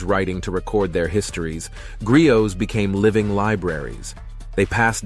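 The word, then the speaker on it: griot: history culture and values a Grio pronounced Grio was a Storyteller historian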